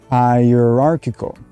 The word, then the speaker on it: hierarchical: you in this word note the use of ch ch unfortunately is not as clear as the word chocolate as in which you might have